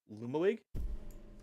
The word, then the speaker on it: Lumawig: Uh there's another one, the creation, also known as Lumawig or did I pronounce that right?